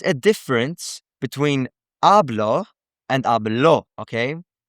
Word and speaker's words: hablo: There is a difference between hablo and hablo, okay? Hablo has the emphasis on the beginning vowel, the vowel in the first syllable, you could say.